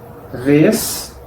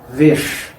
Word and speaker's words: vez: final de la sílaba, la Z también va a tener el mismo sonido. Sonido de ash, esh, ish, osh, ush. Un ejemplo de palabra terminada en Z en las dos pronunciaciones posibles. Vez, vesh.